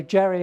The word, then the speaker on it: Jerry: Um, I'd like to say Robert just asked me how I pronounce my name and I like to say Jerry as in mouse, as in Brian, but you have to be a certain age to know the last one.